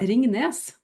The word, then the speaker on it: Ringnes: Ringnes.